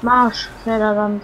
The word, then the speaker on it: Marchfelderland: Marschfelderland. Nein, Marsch. Ist kein S drin. Es wird aber so ausgesprochen.